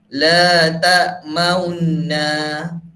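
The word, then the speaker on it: لَا تَأْمَنَّا: Macam Ustaz cakap tadi, ishmam tadi dia kena muncungkan bibir. Macam mana kita nak muncungkan bibir bila kita nak baca ini? Iaitu tengok muka Ustaz betul-betul, ya. La ta'maunna. La ta'maunna. Dia cara baca dia macam la ta'manuna. Kita sebut nu macam mana? Kan? Tanda dia kita kena bibir kita kena muncung kan. Inilah dia punya cara baca dia.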